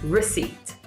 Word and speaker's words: receipt: Let's just remember that it's spelled with a P, but we don't pronounce it. Receipt.